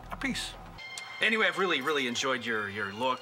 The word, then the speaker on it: Appice: Italians from Italian descent a peach a is the way you say in Italy but in America say episode Minnie yeah when I was with Rod Stewart we decided to say one more Carmine Appice so it's a piece anyway I've really really